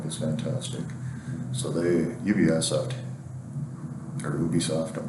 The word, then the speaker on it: Ubisoft: the Atari Jaguar, and I started calling them UBI then because I'd never heard it pronounced. And so if you hear me say Ubisoft, that's why.